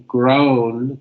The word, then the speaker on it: grown: So the word grow, we use the O sound, grow. But in grown, grown, we have to make sure we put the N sound at the end.